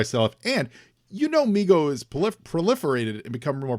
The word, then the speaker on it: Mego: I am not pronouncing it correctly because I promise you, for the first 40 years of my life, it was MEGO, like Lego, like Lego.